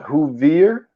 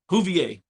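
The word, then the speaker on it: Whovier: is it is that supposed to be pronounced huier huier is it huier yeah huier it got a who in it what I'm saying everybody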